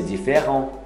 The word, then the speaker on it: différent: C'est différent. Aí, c'est, isso é diferente. C'est différent. Não é diferente, nem différent, nem différent. De O. É um A com O misturado. Essa pronúncia.